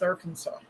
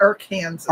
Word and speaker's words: Arkansas: What's wrong with Arkansas? I don't know. That's That's how you pronounce it. Arkansas. Arkansas. It's not our Kansas.